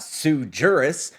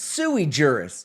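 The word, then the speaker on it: sui juris: the words right because it's not Sue jurus it's suei jurus which is Latin for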